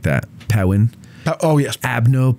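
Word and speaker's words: Perrin: Brigade you have to say it like that powwin oh yes abno powen is how you say his name uh parents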